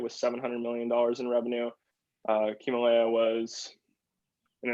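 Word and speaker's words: Ximalaya: Himalaya was, and it's spelled like XI, Himalaya, kind of like Himalaya.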